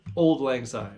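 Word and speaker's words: Auld Lang Syne: Bluegrass playing days and he says it's old old lang sign it's just it's just Old English Old Lang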